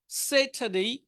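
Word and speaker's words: Saturday: সেটারডে, এই রটা না উচ্চারণ করলেই ভালো।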